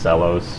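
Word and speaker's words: Xluos: at the house i you would think it's pronounced you know x-l-u-o-s-luos but it's pronounced cellos sure let's go with it that's how he says it so i guess that's what's right just like envelope guys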